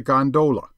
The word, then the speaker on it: gondola: the fraternity as a gondola with the second syllable emphasized and pronounced long but to return I